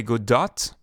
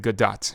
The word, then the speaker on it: Godot: French it's good Oh in English people might say good dot because of the word dot the the name of